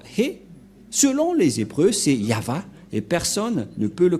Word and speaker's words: Yahvah: Nous allons écrire en jaune ya, Yod et He, et va, V-A-H. Voilà le nom de Yahva prononcé par le grand-père Moshe, Yahva.